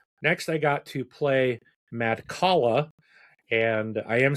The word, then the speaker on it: Madcala: Next, I got to play Madcala.